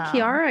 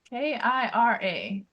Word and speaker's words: Kira: Is it Kiara or Kira? I think it's K I R A. Kira. Oh, so I was saying it wrong. I apologize to the character. I said Kiara like half the time.